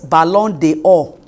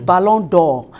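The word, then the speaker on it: Ballon d'Or: balon the o is balon door that means the the the v is there are two vowels as e and o so when you cut the e pronunciation is balon it's a French word yes it's a French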